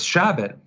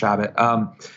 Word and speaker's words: Chabot: think that's reprehensible and with Chabot sorry his mate it's pronounced rabbit his policies are just